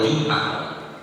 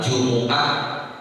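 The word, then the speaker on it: الجمعة: aljumuah boleh dibaca aljumah bahkan kalau kita lihat di dalam ayat al-qur'an di ayat 9 surah aljumuah dalam qiraat hafz bacanya enggak boleh jumah tadi saya baca dalam imam salat subuh pagi ini Bismillahirahmanirahim ya ah boleh juga jumah tetapi di qirat yang biasa kita banya harus Yaumil Jumuah Walaupun memang istilah Jumuah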